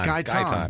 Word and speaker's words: Gayton: Aaron Anderson, Laura Christensen, Travis Mays, Gritton. Oh, no. Yeah. Yeah. Gritton. Gayton. You've said That's it. That's an A, not an R. Gayton.